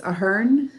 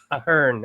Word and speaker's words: Ahern: Yeah, if you're in Ireland, it's Ahern, but we're not, so it's cool. Ahern. I will do my best to pronounce it that way from now on.